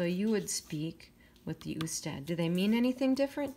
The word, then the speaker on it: usted: Remember, we never say ud. You can write it abbreviated, but we still have to say it like usted.